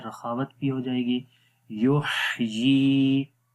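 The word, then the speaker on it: يُحْيِي: یحیی، یا کے نیچے کھڑی زیر ہے، اس کو ایک سیکنڈ لمبا کریں گے.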